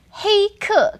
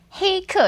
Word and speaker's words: 黑客: Next one I'm going to give you is 黑客. Can you guess what that is from the phonetic translation? Phonetically, it sounds a lot like hacker. It is hacker. 黑客, and 黑 is black.